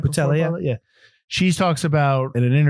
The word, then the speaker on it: Boutella: Boutella, yeah.